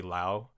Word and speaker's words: Liu: Oh yeah, it's Liu. I sometimes you can say Liu, but yeah, I don't speak Chinese, which I wish I did. But there's different pronunciations of it, like Lao or Liu or I don't know, Liu. Oh really? And what's Yeah. how did your dad's side of the family pronounce it? He just said Liu, but I think if it's Cantonese, it would be Lao.